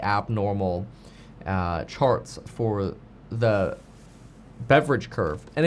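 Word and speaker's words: Beveridge: However, Powell did today spend more time talking about the concept of the Beaver curve, or it's spelled Beaver, but it's technically pronounced beverage curve, which I think sounds really weird because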